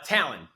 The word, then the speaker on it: Talon: pronounce it uh Talon t a l o n like the eagle claw people are always like